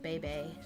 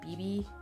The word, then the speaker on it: Bebe: I pronounce Bebe as like how I just said it, Bebe. I know some people say BB, but in my head it's always been Bebe.